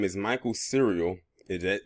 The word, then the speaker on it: Sereal: whose name is michael's cereal is that is actually cereal not like the uh the food cereal is spelled with a s instead of a c